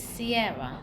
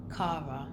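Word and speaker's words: Ciara: It's Sierra, not Cara.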